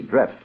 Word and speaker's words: Dreft: It's spelled D R E F T. Drift, and it is a synthetic, and it's not a soap.